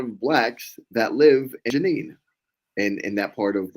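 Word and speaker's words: Jenin: in yenen Janine Janine is that how it's pronounced there Janine Janine right j j j n i n right y Janine and that's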